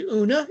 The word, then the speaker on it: Oona: That her best friend was named Oona. It's spelled differently. It's given an Irish spelling, but it's it's it's homophonic with uh una na of the fairy queen.